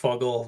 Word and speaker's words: FGGL: to FGGGL being pronounced Fuggle that it's like hearing the long form is like, is that right? Right? Because you say it. Yeah, FGGL is definitely Fuggle.